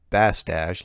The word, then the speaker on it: Bastache: If you read this on the show, my last name is pronounced Bastache, like mustache.